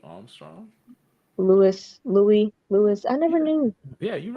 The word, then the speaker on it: Louis: Louis. I never knew. Yeah, you're Uh, right. You said it. You said it right. Louis, You can yeah, say Louis or Louis. It's the same, Louis same or Louis.